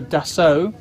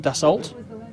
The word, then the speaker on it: Dassault: a Carlos pay attention this is a deso not Dassault or any other pronunciation adesso Falcon 8x which